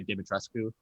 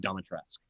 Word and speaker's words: Dimitrescu: Most people say Dimitrescu. Yeah, and then so they're like, "Oh, it's pronounced weird." I'm like, "Oh, it's pronounced Domitrescu."